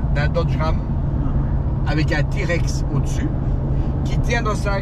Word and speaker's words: TRX: En anglais, ça se prononce TRX, c'est comment? T-Rex. T-Rex.